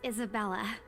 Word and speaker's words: Isabella: You're getting your Isabella. name wrong. See, rich people. Right. It's a lovely name, Isabel. It's Isabella. Now you're just doing it on purpose. It's Isabella.